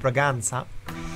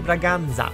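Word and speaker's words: Bragança: And I have received feedback from a viewer from Portugal on how to pronounce this name, as it isn't Braganza. The lesson was well taken, and it should be Braganza, I suppose, and I hope that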